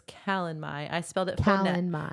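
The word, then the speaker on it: Calanmai: Okay, so it's Calamai. I spelled it phonetically for myself.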